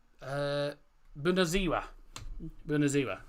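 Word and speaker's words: Bună ziua: Bunaziwa, I believe is how it's pronounced.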